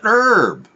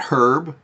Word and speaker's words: herb: It's an herb. The H is silent. You imbecile. Yes. Herb, not herb.